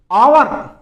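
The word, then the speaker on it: hour: अब इसमें H silent रहता है। आपको यहीं से बोलना है आवर। बहुत से देखते हैं आगे एच आ रहा है। कैसे बोले? लेकिन उसको आवर बोलना है या एच साइलेंट रहेगा।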